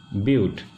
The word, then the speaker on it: but: be pronounced as prop for four it will be as built i write it but but will be pronounced as butte for five carbon atoms